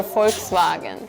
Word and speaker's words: Volkswagen: But then I know that Koreans and also Japanese I think they just can't say the F sound properly like F or V sound. So it usually sounds like a B.